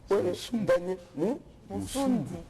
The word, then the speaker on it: Daniel Moussumbu: Tu as mal prononcé mon nom tout d'abord. C'est vrai, hein? Regarde là. Daniel Moussumbu.